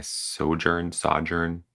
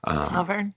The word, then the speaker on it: sojourn: So I often pack up and leave, moaning to myself that my sojourn, I always pronounce this word wrong. Sovereign?